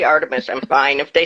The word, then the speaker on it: Artemis: Artemis is the more common pronunciation and it's the pronunciation for the goddess and I was named after Artemis, but my mom always called me Artamus and it's a whole long convoluted story.